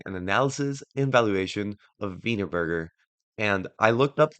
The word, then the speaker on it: Wienerberger: to be doing an analysis and evaluation of vburger and I looked up how to pronounce the name and it is pronounced vburger and I'll try not to laugh but that